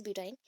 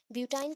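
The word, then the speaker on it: butyne: ऑफ ब्यूटीन, that is ब्यूटाइन। ब्यूटाइन का आपको जानना है, ब्यूटीन मैंने मेंशन कर दिया, एक्चुअली ब्यूटाइन है, प्रोनाउंसिएशन के अकॉर्डिंग ब्यूटाइन है।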